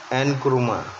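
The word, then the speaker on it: Nkrumah: अब के नामरुख प्रोनाउंस्ड एनक्रुमा, जिसको एनक्रुमा के नाम से जानते हैं, ये कौन थे?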